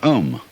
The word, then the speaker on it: Om: One of the basic mantras is, of course, the sound Om. That sound is used because if you spell it out, A-U-M, it runs from the back of your throat to your lips, and therefore it contains the whole range of the voice.